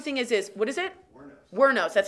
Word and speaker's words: Wuornos: Wuornos, that's how you say it.